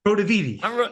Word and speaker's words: Protiviti: It's Italian, Prodaviti.